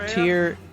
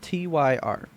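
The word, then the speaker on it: Týr: Also, Tyr is spelled Tyr. Uh-huh. When anybody says his name, it's Tyr, but there's an accent on top of the Y. So that's not really Tyr.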